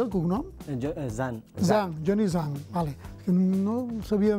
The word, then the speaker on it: Zhang: Com es pronuncia el cognom? Zhang.